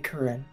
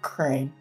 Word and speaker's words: Kurin: As I was saying, and she'll kind of look at you again, I am Kurin. Some people pronounce it Crane. Oh, like the bird legs.